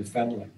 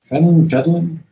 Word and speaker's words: fentanyl: I've lost a number of clients to, I just heard about one the other day, to fentanyl. I've lost fentanyl? I'm mispronouncing.